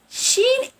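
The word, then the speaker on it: ش: Sheen equal SH in English. When I say shark, shadow.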